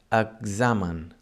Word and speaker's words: examen: And the third sound of the X is like, for example, in examen. In this case, it doesn't sound as a KS, as in taxi. Instead, it sounds as a GZ, examen.